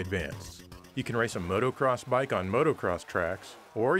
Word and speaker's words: motocross: bike in racing traffic i mean motocross not motorcross pronouncing things is hard